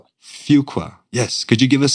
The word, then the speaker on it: Fuqua: life the Duke on the Fuqua did I pronounce that right the Fuqua Fuqua yes could you give us some more examples